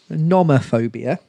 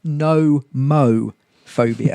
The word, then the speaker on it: nomophobia: sick watching it okay I've initially read this is Norma phobia but actually I think it's actually pronounced no mo phobia nomophobia yeah fear of